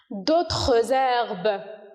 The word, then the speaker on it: d'autres herbes: D'autres herbes. Ici, on a fait, ou bien, voilà, on a fait de la liaison. D'autres herbes. Parce que on a une consonne et un H muet.